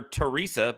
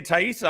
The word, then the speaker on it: Taissa: that much attention so just now hearing you say taissa i'm like yep yep it's been pronouncing that wrong until this very moment i i think it's either taissa or tesa no it's not isa i thought it was thais but it's definitely not is theresa it's not